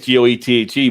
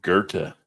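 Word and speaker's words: Goethe: a Chicago native the proper pronunciation of he has go t but then he says it's Gerta so not go but Gerta but but I see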